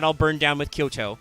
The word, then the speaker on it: Kyoto: They're not all burned down with Kyoto, which by the way is spelled Kyoutou. So long O's.